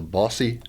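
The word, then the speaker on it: Bosse: And in June, they put on a festival in Evansville at now I'm pronouncing it right, the Bossy.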